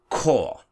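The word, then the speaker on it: Chor: and this one is core core core is choir so you see sometimes the C can also be pronounced as a K Dee Dee Vee dama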